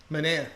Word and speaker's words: Manaea: Is that the proper way to pronounce his name? That is the proper way. Manaea.